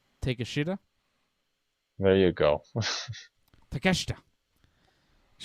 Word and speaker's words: Takeshita: okay he's good this takeshita yep i i found out if you say his name like in english it comes out a bit differently but yes take a shooter there you go takeshita